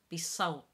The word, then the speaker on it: بصوت: The T in salt, again, is a little bit of a different way of pronouncing to a normal T sound, and that there's a little bit more prominence on it.